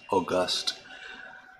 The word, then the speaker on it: August: I remember being in high school, and I clearly remember the first time I heard the word August, or as it's pronounced in this context, August, used as an adjective.